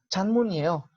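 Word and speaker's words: 장문이에요: chan, mu, ni, yo, que al final suena prácticamente lo mismo, chanmunieo, chanmunieo, pero fíjense que esa N como que se alarga hacia la I, chanmunieo, chanmunieo, y así suena más fluido.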